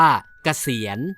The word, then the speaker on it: เกษียณ: ไง คะ พี่ โพจ คำ ว่า เกษียณ เขียน สระ เอ ก ไก่ ส ฤาษี สระ อี ย ยักษ์ น เณร จะ อ่าน ว่า เกษียณ เรา คน ไทย ต้อง